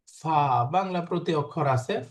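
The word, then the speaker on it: فاء: ফা বাংলা প্রতি অক্ষর আছে ফ। ফা বাক্য উচ্চারণটা হলো জিহ্বার কি বলে উপরের দাঁতের আগা নিচের ঠোঁটের মাঝখানে লাগবে। ফা। ফা কামড়ের মতো।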